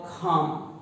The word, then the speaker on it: calm: C का sound K पर गया, K को K नहीं बोलते हैं, तो ये हुआ खाम, CALM खाम।